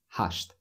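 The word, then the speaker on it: хашт: of them almost eight hushed and just like seven we don't pronounce t at the end hush like that so he works from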